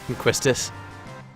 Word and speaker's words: Quistis: don't like doing the randomness of getting the Quistis card, or the Castis card. That card is the most You broken pronounced thing it in the game. correctly the first time. Quistis. That's how I've always pronounced it.